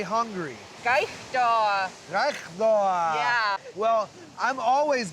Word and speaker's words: kaigtua: Gaishda.